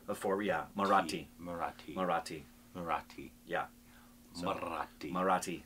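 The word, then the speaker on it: Marathi: for this marati right not morathi but morati marati marati marati yeah so not the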